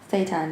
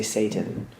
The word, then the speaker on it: seitan: Seitan, yeah. Yeah, because I always say Satan, and it's like no.